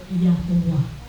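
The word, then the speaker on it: Yahweh: the children of Israel it is pronounced Uh natural yahwe or yahuah yah yaha o '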